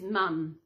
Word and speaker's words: mum: The word is mum. In Australia, we spell it M-U-M, because that is how we say it. So in America, you spell it M-O-M, because that is the way you say it.